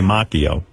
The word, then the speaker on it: Macchio: And also say macchio, the proper Italian pronunciation.